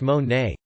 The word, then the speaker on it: Monet: graduation age 17 party and jessica met monet pronounced mon nay about six months ago at a small gathering